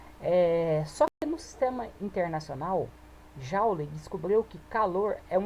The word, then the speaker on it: joule: Então, toda vez que você vai colocar o nome da unidade por extenso, coloca Joule, joule, tá bom? E nós pronunciamos joule, tá bom?